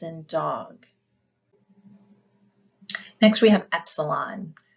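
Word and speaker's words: έψιλον: dog next we have Epsilon which is pronounced e as an echo we also have Zeta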